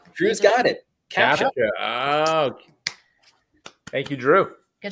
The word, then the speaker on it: CAPTCHA: My buddy Cam, he's called it Capacha for many years.